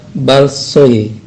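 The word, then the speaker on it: большое: Spasiba balsoye ya, balsoye. Nah, dalam spasiba balsoye itu tulisannya ada huruf O pada kata balsoye ya, balsoye. Nah, huruf O tersebut tidak diucapkan O, tapi diucapkan A. Jadi balsoye ya.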